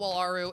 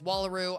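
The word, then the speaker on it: Wallaru: Wallaroo Wallaroo sorry guys I always call it walu it's Wallaroo I just pronounced it wrong I Wallaroo is fine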